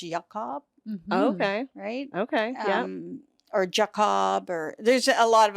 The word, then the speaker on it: Jakab: would be pronounced GL Cobb okay okay or Jacob or there's a lot of other pronunciations so but when in North America it's yeah Jacob yeah great you're all over Instagram and Karen